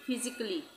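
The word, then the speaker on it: physically: उसी तरह से यहाँ पे हम इसको पढ़ेंगे फिजिकली, फिजिकली, तो ए का उच्चारण नहीं होगा, फिजिकली।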